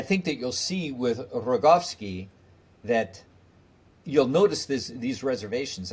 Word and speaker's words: Rogowski: Why don't you say it? Rogowski. Rogowski. Rogowski. Stress on the second last syllable.